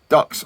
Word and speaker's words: DUKW: Uh the DUKW popularly pronounced duck was designed and produced